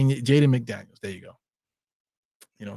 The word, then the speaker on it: Jaden McDaniels: know that I I appreciate you uh jayen jayen McDaniels Jaden MCD yes so I do have it